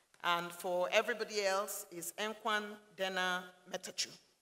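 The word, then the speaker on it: እንኳን ደህና መጣችሁ: And for everybody else, is Enkwan Dena Metachu.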